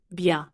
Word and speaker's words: bien: Notice again, the sound bien. It's written bien, but in listening, the N is soft, presque nasal. Say it with me, bien. That nasal sound is very French, and you will hear it often, bien, matin, vin, pain.